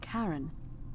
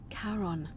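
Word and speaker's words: Charon: is a little off the name you heard wasn't karen it was c-h-a-r-o-n as in caron the ferryman of the dead karon who in exchange for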